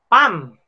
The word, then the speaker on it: palm: ataka for l okay pam pam pam pam It's silent L para siyang Pam so Pam yung kamay